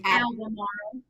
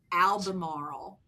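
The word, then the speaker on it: Albemarle: Alberley, pronounce that for me. Albamarl. Albam Maro.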